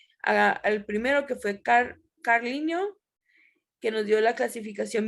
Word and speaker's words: Linné: Este de Linné se escribe, se dice Linneo, ¿ok?